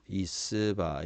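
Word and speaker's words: יִשְׂבַּע: 사바 발음은 이스바 이래 되겠죠.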